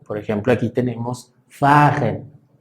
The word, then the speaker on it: fahren: Por ejemplo, aquí tenemos fahren, fahren. Entonces la H no se pronuncia.